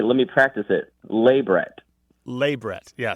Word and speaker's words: labret: let me practice it labret laet yeah stress on the first syllable La labret wow and it